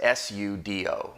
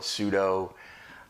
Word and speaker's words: sudo: about a popular utility called sudo that's spelled out as s-u-d-o some folks may call it sudo generally it's sudo it stands for super